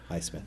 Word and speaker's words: Highsmith: It goes back to the privacy factor, but I need to say, sir, Highsmith, is that pronounced? Highsmith, correct.